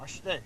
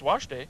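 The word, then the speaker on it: wašté: That's wash day. No. Yeah. I did not say wash day. I said washte. Wash day. Washte. You put an accent on the day.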